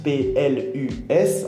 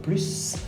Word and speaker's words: plus: Donc, c'est-à-dire que de temps en temps, quand vous avez plus, P-L-U-S, en fait, on va prononcer le S, donc plus, ou alors on ne prononce pas le S comme plus.